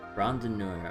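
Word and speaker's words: Randonneur: Oh, okay, I think I mispronounced his last name a little bit earlier. Rondinor, okay.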